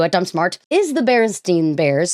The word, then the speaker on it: Berenstain: Berenstain Bears, which it's pronounced Berenstain.